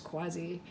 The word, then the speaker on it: Quasi: I went to see I don't know how they say it exactly, the Quasi, or just maybe it's just Quasi, I think, or Quasi. I'm pretty sure it's Quasi.